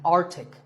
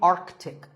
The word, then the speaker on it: Arctic: Pole of the earth it's mispronounced by many as Arctic but it's actually Arctic the sea in the middle is not silent similarly aunt Arctic and